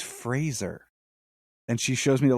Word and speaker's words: Fraser: Yeah, why did, when I just saw a thing, he was like, my name is Brendan Fraser, like Razor.